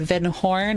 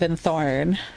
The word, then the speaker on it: Vin Thorn: The reason why I pronunciate it that way is because I the the N and the H blended together. I didn't see the T. That's why I said Vin Horn instead of Vin Thorn.